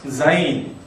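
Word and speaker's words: ז: 비으로 한 것으로 그다음에는 자인 자인 자인 자인 자 그 여러분 교재 16쪽에 보면 제가 유성은 지이라고 발음을 이야기를 했는데 하면 이게 그이 자인은 목이 떨 떨리면서 어 발음 숨이 세어 나오는 거죠.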